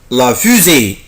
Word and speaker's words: fusée: بص يا حبيبي بنطقها فوز طبعا احنا خدنا اللتر فويل الفاولز لتر قبل كده وقلت لكم يا حبايبي ان حرف الاس لما يجي وسط حرفين متحركين او بين اتنين حرفين فويل بنطقوا زد بيقولوا فوز la fusée la fusée